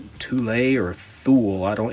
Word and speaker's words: Thule: to like norway called toule or thule i don't it's it's spelled t-h-u-l-e i've heard it pronounced tulay but it looks like phonetically it would be called fool i'm not sure it